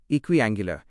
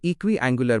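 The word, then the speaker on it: equiangular: इक्विंगुलर इसे इक्व एंगुलर बोलें।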